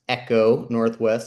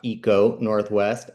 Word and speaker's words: ECONorthwest: Echo Northwest, not Eco Northwest.